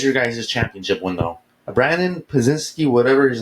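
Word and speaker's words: Podziemski: Their starting point, they consistently asked for Brandon Pazinski.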